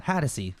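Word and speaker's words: Hatosy: o s y hat haty Hy Sean haty hatsy thank you Sean hatsy no have handwriting Stan who's the jock that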